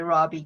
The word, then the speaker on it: Robbie: I love Lily, I say Robbie because Robbie is the South African pronunciation.